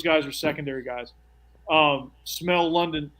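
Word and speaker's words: Smael: no no yeah like like one of the senses well it's not spelled that way but it's pronounced that way yeah is it like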